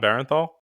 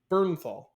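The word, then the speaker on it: Bernthal: John Barrenthal. Is that not right? Not exactly. What is it? You added an extra e in there. What is it? Burnthal.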